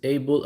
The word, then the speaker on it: Abel: It's Abel as in Cain and Abel.